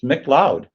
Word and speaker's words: McLeod: know that okay and you know how to pronounce it it's mcloud all right so when you